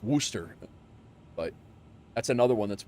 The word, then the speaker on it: Worcester: Warchester or Warcester, everybody says from out from not from there, but Worcester is the uh it's it's actually a uh like Worooster, but that's another one that's whacked.